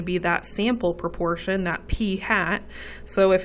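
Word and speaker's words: p̂: which is notated using p hat p hat is how you say that um it's the best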